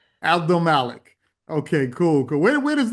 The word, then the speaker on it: Abdelmalek: give us that last name again so it's pronounced properly. Abdelmalek. Abdelmalek.